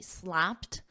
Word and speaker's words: slapped: again because we have this P this pronunciation of Ed is a soft te slapped 25% tariffs on nearly